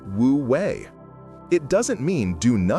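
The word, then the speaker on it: wuwei: This is where Alan Watts philosophy introduces a beautiful idea from Taoism called wooi pronounced wooui.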